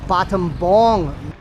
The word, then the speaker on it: Battambang: How we would pronounce it in English, it's actually pronounced Battambang.